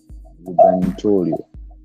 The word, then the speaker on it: gubernatorial: I don't have a clear issue what happened, but that's one of the reasons why IBC was unable to conduct gubernatorial. How is it pronounced?